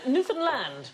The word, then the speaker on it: Newfoundland: newfoundland hey enough violence on this show newfoundland is the correct pronunciation and in 1876 a man was killed